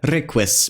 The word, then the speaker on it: riqis: Unlike English, the letter U does not necessarily follow this letter. Examples of words with this sound include sinquan, meaning to sink, and requis, meaning darkness. The letter S is always